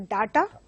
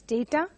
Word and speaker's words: data: Some people mispronounce it as data, so which has to be pronounced as data.